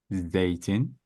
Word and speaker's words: zeytin: But this has to be like a soft one. So it's going to be zürafa, zeytin, zebra, zarf.